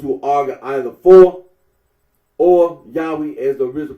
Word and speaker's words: Yahweh: that of those who regard this name as anciently pronounced yahwe like the Samaritans talking about the Tetra